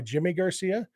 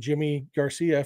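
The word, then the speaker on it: Yimi García: I found out that Yimi Garcia actually prefers to go by Jimmy Garcia, which makes sense if some Spanish-speaking countries, they do pronounce the Y sound like a J, como te llamas, a little bit.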